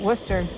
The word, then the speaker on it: Worcester: But Worcester isn't worshshire. It's got like extra syllables and Wow.